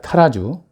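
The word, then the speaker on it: Tarrazú: 예 잘 갈아진 코스타리카 타라 주 원래 발음은 따라 수입니다 sps 기계에는 아니지만 그래도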